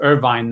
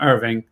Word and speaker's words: Irvine: about mispronouncing the name it's irvine not irving right is one of